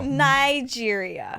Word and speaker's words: Niger: give it a go give it a go Nigeria no no this is Nigeria okay I don't know anything about you it's spelled n-i-g-e-r my arm pictures how do you